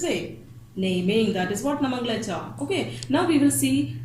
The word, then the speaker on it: nomenclature: Nomenclature means naming, to give name to something. Okay, it is written nomenclature, but don't pronounce it in this way. It is nomenclature.